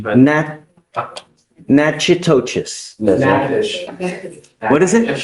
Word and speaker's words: Natchitoches: You are wanted out of, Louisiana, Natchitoches Parish. I butchered the pronunciation, but. Natchitoches. Yes, What is it? Natchitoches.